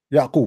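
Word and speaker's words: يعقوب: Yaqub.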